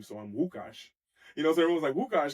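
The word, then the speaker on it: Łukasz: You know, like my whole name is and people know me as, but for example, in Poland the L is pronounced with a W, so I'm Wukauash, you know.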